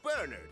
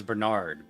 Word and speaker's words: Bernard: I've always heard that name pronounced as Bernard, but now it's Bernard.